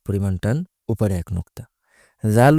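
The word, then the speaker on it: ذ: জাল উচ্চারণ করার সময়ও জুভার আগা সামনের উপরের দুই দাদের আগার সাথে লাগিয়ে এরপর উচ্চারণ করতে হয়।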